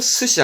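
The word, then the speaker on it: 寿司: 사회, 사회자의 사회, 발음은 시카이, 시카이. 그리고 또 뭐 있었더라? 직장 상사는 조시, 조시. 그리고 초밥도 스시 한자 이거 썼다라는 거.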